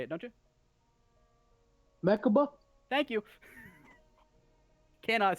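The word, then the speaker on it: Mechikabura: Mechaba?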